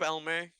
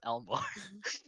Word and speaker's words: Elmore: How are you today, Elmer? It's Elmore.